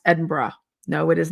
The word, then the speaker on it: Edinburgh: Cuz u afternoon tea at the Balmoral in Edinburgh and some other things.